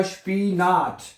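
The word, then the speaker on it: Spinat: आई को आई नहीं पढ़ना, इंग्लिश में आई ही पढ़ते हैं लेकिन जर्मन जुबान में आई को ई पढ़ा जाता है तो ये बनेगा स्पीनाट, स्पीनाट, है, पालकों को कहते हैं वैसे।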